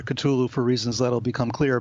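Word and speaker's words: Cthulhu: of cthulu and or people pronounce it cthulu in different ways I prefer cthulu for reasons that'll become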